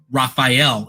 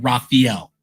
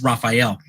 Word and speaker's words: Raphael: his name is pronounced Raphael, and a lot of people say it Raphael, and he doesn't understand where they get the E. It's Raphael.